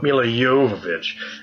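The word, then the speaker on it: Milla Jovovich: But it does appear, breaking news here, Resident Evil star Mila Jovovich, that's actually how you pronounce me, Mila Jovovich, is in final negotiations to join the new Hellboy reboot, playing the villainous Blood Queen.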